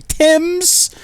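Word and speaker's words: Thames: us you can't even pronounce the name of the river that runs through your Capital correctly Tims it's not even the right letters crying out loud anyway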